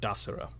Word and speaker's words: Desiro: I am Desiro. And when he says that, you know that it is pronounced Dasiro.